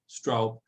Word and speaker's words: Straub: make it clear that there was a typo because the in germany actually means dust and that's not my name anyway you pronounce it correctly straub so good evening everyone